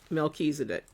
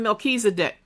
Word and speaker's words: Melchizedek: After the order of Melchizedek. Can't spell y'all. In the whole Bible. Yeah, I want to. Okay. Order. Sometimes it's spelled Malky. It's pronounced Malky and then Zedek.